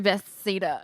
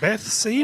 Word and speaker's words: Bethesda: and it's through Beth Cedar only. Bethesda.